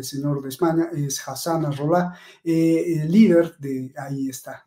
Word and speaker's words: Nasrallah: La gente que sigue a Nasrallah, porque lo pronuncia mal este señor de España, es Hassan Nasrallah, el líder de, ahí está, ahí lo estamos